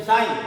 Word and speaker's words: sign: हैं ना वो साइन, तो SIGN साइन है ना, जी जो साइलेंट हो गया, तो साइन फंक्शन यानी चिन्ह फलन।